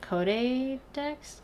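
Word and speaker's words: Codédex: called codex um and it's kind of spelled like Pokedex except code instead of poke so I was at code Dex I don't know but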